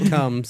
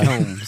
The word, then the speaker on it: Combs: got that part right it's not coms it's coms coms comb in your hair if you have any